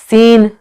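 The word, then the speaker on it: scene: जिनमें साइलेंट सी होता है वो देख लीजिए, सीन, सेंट, ठीक है। यहाँ पर क्या है, जो सी है वो क्या है, साइलेंट है।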